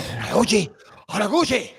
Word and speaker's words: Kyoji Horiguchi: Pronounce it properly, okay? Kyoji Horiguchi.